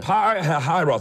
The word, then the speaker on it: Pi-Hahiroth: I want you to lead them over by Pi-Hahiroth. I'm real proud of myself. I learned how to say it. Pi-Hahiroth and Migdol, over by Baal-Zephon.